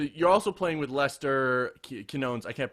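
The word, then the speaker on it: Quiñones: So you're also playing with Lester Quinones. I can't pronounce his last name. Yeah, Quinones.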